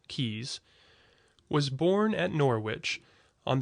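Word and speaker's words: Caius: better known by the latinized form kaas which retains nevertheless the pronunciation derived from the English original keys was born at Norwich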